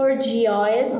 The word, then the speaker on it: bourgeois: বাট ইজ it really so? না, আমরা একটু প্লে করে দেখি। হুম, ওকে। বোর্জোয়া, বোর্জোয়া, বোর্জোয়া, বোর্জোয়া, বোর্জোয়া।